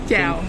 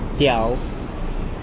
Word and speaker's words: chào: Jia Bu Sang. No. Chào. Chào. Tiao. No tell. It's chào. Chào.